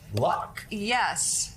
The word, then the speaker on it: Puck: HE IS A PARTNER AND CHIEF POLITICAL COLUMNIST AT PUCK. AND MSNBC CONTRIBUTOR -- RHYMES WITH LUCK.